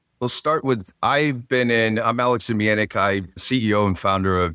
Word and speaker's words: Zemianek: Again, thanks for having me, and great job on the pronunciation. You nailed that. Yeah, so I will start with, I'm Alex Zemianek.